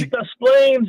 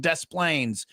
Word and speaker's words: Des Plaines: You said Des Plaines. You got to get it. You drop the S. The S is silent. Well, isn't it Des Plaines?